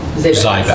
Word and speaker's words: Zyback: Zyback. Zyback. Zyback. The S is silent. Zyback, okay. The second Z is silent.